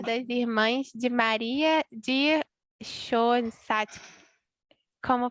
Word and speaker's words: Schoenstatt: Eu talvez tenha um pouco de dificuldade para pronunciar, mas no Instituto Secular das Irmãs de Maria de Schoenstatt, como pronuncia?